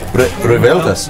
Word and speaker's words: revueltas: How do you pronounce this one? Revueltas? Revueltas.